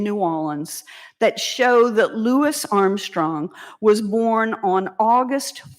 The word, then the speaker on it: Louis: Nobody but white people who didn't know him called him Louie. So, today I'll be using the names he preferred.